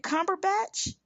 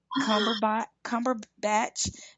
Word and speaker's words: Cumberbatch: Is it Cumberbatch?